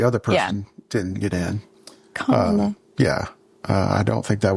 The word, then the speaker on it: Kamala: No, it's Kamala.